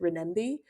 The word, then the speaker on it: Renminbi: Something that I enjoyed learning from your book is about the Chinese, how did you pronounce it? Renminbi?